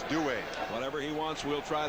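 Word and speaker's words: Duhe: just do it yeah apparently though uh the cajun pronunciation is due whatever he wants we'll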